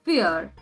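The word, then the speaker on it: vier: is called fear hundred four is called fear remember that v is pronounced as f nakhyan mal fumes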